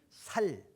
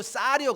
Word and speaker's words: 쌀: 우리 장인어른은 절대 쌀이라는 말을 못해. 살. 그게 아니고 쌀이요. 그러니까 살. 이 경상도 분들은 이 쌀 발음이 안 되는 모양이에요. 이게 그 살. 그 살이 아니고 쌀. 그러니까 살.